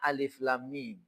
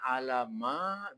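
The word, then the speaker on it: الم: Juz pertama itu surah Albaqarah ayat satunya alif lam mim maka dikenal juz bacanya nama huruf jangan alama bukan alama ya pak caranya onde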